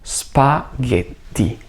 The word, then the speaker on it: spaghetti: E poi la doppia T, quindi faccio una breve pausa prima della lettera T per enfatizzare questo suono più lungo, che non è una D, ma è una T. Quindi la pronuncia finale è spaghetti.